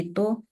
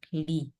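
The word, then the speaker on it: 이: Li ya Jadi sebenarnya untuk Li ee itu dia memang cara baca yang asli itu adalah i bukan Li cuma ketika di ee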